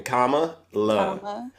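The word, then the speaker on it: Kamala: but here's the thing how you pronounce it comma you know like in punctuation comma love Yeah that's the easiest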